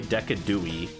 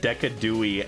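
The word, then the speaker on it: Decidueye: Uh, and then grass type my boy Decadooi. I heard someone pronounce it Decadooie and I did like my neck snapped from how fast I turned around.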